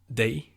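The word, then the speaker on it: dig: Moving on to you is they.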